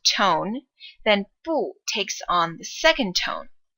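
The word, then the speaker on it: 不: it's paired with so po normally is a fourth tone but when it directly precedes another fourth tone then po takes on the second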